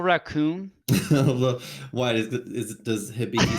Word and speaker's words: Hibiki: your twitter today something about uh is it hibiki whiskey or how do you pronounce it oh hibiki yeah that i i was asking everyone what